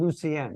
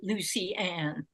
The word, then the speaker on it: Lucien: He pronounced his name Lucien, right? Lucien. Yeah. Oh, Lucien. That's better than I'll. My father pronounced it Lucy-Anne.